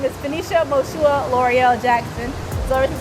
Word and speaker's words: Moshua: It's just like Joshua with an M.